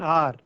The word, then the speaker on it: hour: अब यहां एन क्यों आया है, इसलिए आया है क्योंकि एच इज साइलेंट हियर और emphasis is on O. So an R.